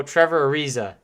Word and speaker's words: Trevor Ariza: avery bradley oh say same guy anyway so trevor ariza yeah that's why i thought that anthony did i'm gonna give it to you but here is trevor ariza at the line in the first one what